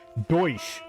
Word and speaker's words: Deutsch: Douche. Douche. Okay, let me stop before somebody gets offended. All right, off to English. So you say you don't like English people? No, no. Deutsch.